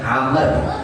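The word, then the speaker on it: عمرو: Itu wau tambahan itu bukan wau asli ya bacanya. Cuma untuk membedakan antara Umar dan Amr ya. Amrun gitu loh istilahnya.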